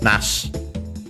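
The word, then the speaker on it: 梨: Then we have nashi, in this case there are also a different nashi, but not in this case. Nashi, accented on the last syllable, means pear, the fruit, so no,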